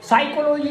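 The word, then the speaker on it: psychology: आपसे अगला प्रश्न पूछते साइकोलॉजी नाम का एक शब्द है है जी सुना उसम जो पी है वो साइलेंट क्यों र पता जब तुमय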